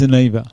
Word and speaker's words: Aniva: And you were like, "Is it Aniva?" Oh, that's right. It's because it's a little bit different. Aniva. It is Aniva.